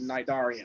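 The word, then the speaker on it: Cnidarian: And a little nerd joke here, the C is silent like in Nidarian.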